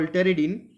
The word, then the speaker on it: pteridine: So this is the fusion of two rings that we call pteridine. P is silent actually. Pteridine, and it is a made up of, we can say that it is made up of pyrazine plus pyrimidine.